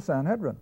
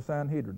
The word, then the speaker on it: Sanhedrin: do with these Believers the Sanhedrin or the Sanhedrin how you want to pronounce it now here's where I